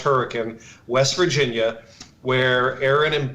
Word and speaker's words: Hurricane: clothes in the car and drove to Hurricane pronounced Hurricane West Virginia where Aaron and boat live and